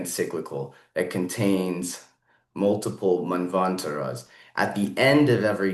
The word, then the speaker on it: manvantara: Um, so, um, so there have been, from my understanding, seven manvataras since the last time the universe was destroyed and created. There Uh, are, there are 14 manvantaras. That's the correct pronunciation.